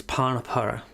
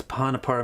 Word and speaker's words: panapara: this the word is panapara what does panapara mean again it doesn't mean anything it's just the way that indians pronounced a greek word the greek word is